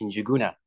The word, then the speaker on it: Njuguna: Yeah, my name is pronounced Njuguna.